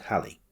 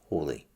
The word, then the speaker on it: Halley: To begin with, Edmund Halley, or Hawley, depending on your pronunciation preference.